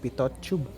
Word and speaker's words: pitot: okay next is the pitot i think the last tee there is silent so it's pito tube okay so pitot tube